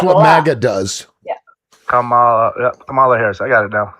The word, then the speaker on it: Kamala: How I remember to say it correctly is it's just like a comma, the punctuation mark. Yeah. And comma. And that's what Abdullah. MAGA does. Yeah. Kamala Harris.